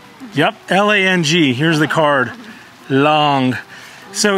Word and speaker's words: Lang: Yep, L-A-N-G, here's the card, Long. So in Mandarin, the A is pronounced like the ah in father, I guess, so Long, father.